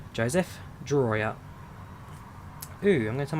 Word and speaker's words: Drawyah: You pronounce it Drawyah, Joseph. Drawyah.